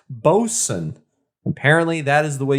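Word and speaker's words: Boatswain: boat swain diaper double ipa but apparently it's pronounced bosun apparently that is the way you say it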